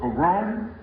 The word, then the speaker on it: pogrom: Concerning the Harlem incident that took place during the summer, when the citizens of Harlem were attacked in a pogrom, how do you pronounce that word? Pogrom?